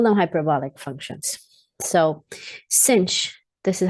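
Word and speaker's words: sinh: right here we call them hyperbolic functions so cinch this is how you pronounce that you can also call it sine hyperbolic this is defined as e to the x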